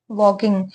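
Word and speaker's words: walk: यह क्या वर्ड है वॉकिंग वॉकिंग का मतलब क्या होता है वॉकिंग किससे बना है वॉक से बना है डब्ल्यू ए एल के वॉक ठीक है ना एल इसमें साइलेंट होता है तो यह वर्ड क्या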